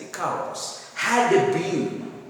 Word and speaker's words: Icarus: He said with regret, alas, in the beginning, that he had been as foolish as Icarus, Icarus, pronounced as Icarus, he had been as foolish as Icarus had been.